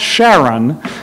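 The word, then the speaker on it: Charon: the Greek mythology but is going to be pronounced Sharon that would be like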